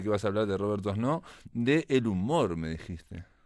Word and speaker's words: Doisneau: conocía, que se llama Robert Doisneau. Robert Doisneau. Robert Robert Doisneau. Doisneau se escribe, vamos a decirles cómo se escribe Sí. Robert Doisneau, Ujú, bien francés, Doisneau, se pronuncia. Doisneau.